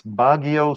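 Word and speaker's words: Baguio: we went to one of our favorite places bagio city bagio right is that how you pronounced it bagio bagio that was really a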